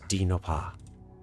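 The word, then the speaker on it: Dinh Ngoc Ha: o c h a it is pronounced d noppah would that come with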